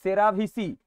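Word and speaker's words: cerevisiae: এবার বলেছে দেখো স্যাকারোমাইসিস সেরাভিসি হলো ড্যাশের বিজ্ঞানসমতা নাম ইস্টের একটি প্রজাতির বিজ্ঞানসমত নাম স্যাকারোমাইসিস সেরেভিস সেরাভিসি বা সেরেভিসি ইংলিশে উচ্চারণ হয় এবার দেখো বলেছে 2024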